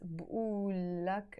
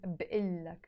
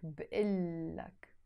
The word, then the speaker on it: بقلك: But the moment I add the لك to say I tell you, I don't pronounce it بقول لك anymore. We drop this O sound and it becomes بقلك, بقلك, which means I tell you.